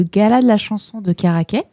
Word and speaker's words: Caraquet: Puis elle a été finaliste des concours prestigieux tels que le gala de la chanson de Karaquet. Je sais pas si je prononce bien caraquet. C'est ça. Oui.